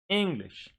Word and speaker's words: English: English. 2 syllables, and on the first syllable, so it goes here.